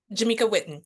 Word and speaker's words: Jameka Whitten: I'm hoping I'm pronouncing it right. Jameka Witten. Jameka Witten.